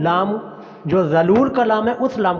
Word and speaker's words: ذلول: بقرۃ لا ذلول، یہ حرف تھوڑا سا مشکل ہے اور ہماری پنجابی پٹھواری لہجے کے خلاف یہ لفظ ہے، تو اس لیے اس لفظ کے اوپر ذرا اچھی طرح مشق کیجیے گا. بقرۃ لا، لام کو لمبا کرنا ہے.